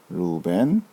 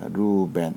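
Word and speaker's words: ראובן: 발음을 하면 으 음 루벤 제 루벤 이렇게 읽으시면 됩니다 마지막 단어 입니다 아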